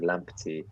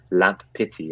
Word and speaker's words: Lamptey: Yes, I clearly have problems pronouncing Lamptey. I call him Lamp Pity, apparently.